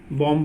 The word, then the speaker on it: bomb: MB में B silent रहता है। जहाँ पर भी MB है, जैसे यहाँ पे देखो बम है ना, बॉम्ब बोलेंगे।